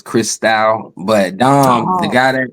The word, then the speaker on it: Christou: Y'all have been saying my name wrong. It's Chris Style.